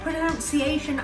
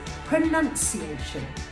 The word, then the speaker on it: pronunciation: did you say pronunciation if you said pronunciation i'm afraid that is the incorrect version of this word the right way to say this is pronunciation pronunciation okay so what do we